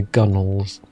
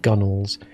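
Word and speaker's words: gunwales: the boat, over the gunnels. Or gun whales, as they're pronounced. Well, they're written gun whales, but they're actually pronounced gunnels.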